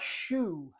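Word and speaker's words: choux: you're mixing together the shoe dough I love the word shoe c h ux if I tell one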